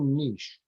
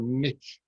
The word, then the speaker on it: niche: about, what is your niche? Or as the Americans say, what is your niche? You know, I mean, you don't say son of a biche, do you? Son of a niche.